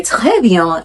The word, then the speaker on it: très bien: If they say très bien, I have to learn how to say the très bien. I have to make sure that R goes in my throat, not to say très bien or très bien or très bien.